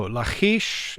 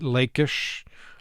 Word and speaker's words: Lachish: with the bible so lachish is perhaps the hebrew pronunciation some pronounce it lakish lakish again it all depends how guttural you want to be in in your hebrew but uh it's a